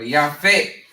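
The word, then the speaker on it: Japheth: And they're called Japhet in the English, okay? Or Yafet, how a lot of people like to pronounce them.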